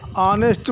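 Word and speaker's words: honest: शुरू हो रहा है ऑनेस्ट मैन का उच्चारण आ से शुरू हो रहा है ना कि ह से आवर आवर का उच्चारण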